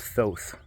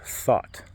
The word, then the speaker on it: Thoth: Egyptian god thought said I always thought that it was pronounced Thoth but it's actually pronounced thought like a mental the